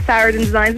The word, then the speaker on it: Saraden Designs: Sarah, am I pronouncing it correctly? Saraden Designs? It is, it's Saraden Designs.